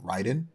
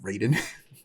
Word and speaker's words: Raiden: they actually called him Ryden which is like correct Japanese pronunciation of that name versus the very like